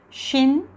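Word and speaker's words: שין: 점이 만약에 오른쪽 위에 찍혀 있으면 쉰이 됩니다. 우리 영어에 볼 때 she라고 발음하죠. 그럼 비슷하게 쉰이라는 아주 부드러운 쉰이 되고요. 그리고 만약에 왼쪽 위에 찍히게 되면 sin이 됩니다.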